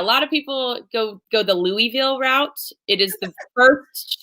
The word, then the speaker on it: Louisville: It's pronounced Louisville. I'll say Louisville, but Louisville is still better than Louisville. So just if you can avoid, skip the Louisville for sure. In every way, shape, or form, skip Louisville. It is Louisville.